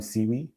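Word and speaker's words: SIWE: also call Simon theorem seaweed it's kind of like seaweed um so in case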